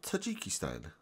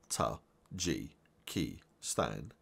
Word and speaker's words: Tajikistan: in this video we will learn how to pronounce Tajikistan Tajikistan is a landlocked country on the Asian